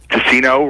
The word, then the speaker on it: Ticcino: And it's Tessino rhymes with casino.